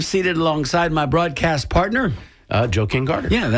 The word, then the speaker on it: Joe King Carter: And the way we say it, you have to pronounce it that way because otherwise it sounds like you're saying Joking Carter.